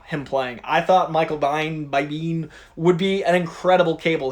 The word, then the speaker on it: Biehn: It's not like Sean Bean. It's Biehn.